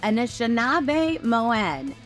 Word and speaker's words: Anishinaabemowin: the language yeah so we say anab Moen so in a shab is the part that talks about the people and the Moen part is that talks about that that's the language we